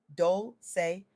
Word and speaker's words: Dolce: I'm your host, Dolce, pronounced Dolce, like sweet softness whispered in French, and I'm your guide